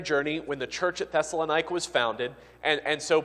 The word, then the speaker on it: Thessalonica: in the city of thessalonica Might truly in Greek it's probably better pronounced thessalonica but you'll generally hear it thessalonica and that is it's